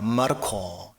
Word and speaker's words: 마르코: 마가 예 마입니다 여러분 마가는 로마식 이름입니다 라틴식 이름이라는 거죠 원 발음은 마르코입니다 마르코 예 그리고 신약 성경이